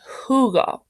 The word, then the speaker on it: jugo: J says huh, as in jugo. It's not G, because GU would make the hard G sound, like in gato.